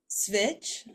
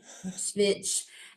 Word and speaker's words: Svich: Svich. Svich, and Anonymous by Naomi.